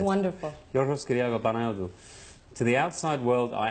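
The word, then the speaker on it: Georgios Kyriacos Panayiotou: My name is Yorgos Kyriakou Panayotou. That's really how it's said. It's wonderful. Yorgos Kyriakou Panayotou.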